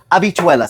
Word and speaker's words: habichuelas: Dominicuelas pronuncia y letra español y palabras para español República Dominicana Puerto Rico Abichuelas se llama abichuelas.